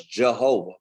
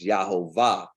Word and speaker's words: Yahovah: they always told us Jehovah, but there is no J in the Hebrew language, so his name could never have been Jehovah.